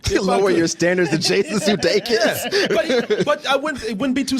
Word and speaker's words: Jason Sudeikis: Jason Sudeikis. That's how you say his name, right? Yeah.